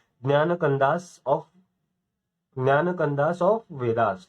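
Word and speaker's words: ज्ञानकाण्ड: ज्ञान कंदास ऑफ, ज्ञान कंदास ऑफ वेदास, ठीक है। ये ज्ञान कंदास के नाम से ऐसा प्रोनाउंस किया जाता है। स्पेलिंग लेकिन जे से शुरू होती है, JNANAKANDAS, ओके।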